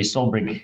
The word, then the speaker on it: Solbrig: Is that pronounced correctly, Solbrig?